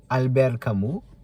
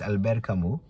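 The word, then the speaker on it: Albert Camus: is a French philosopher Albert Camu. Uh the spelling is Albert Camos. C A M U S. But because he is uh French, the correct the correct pronunciation is Albert Camu.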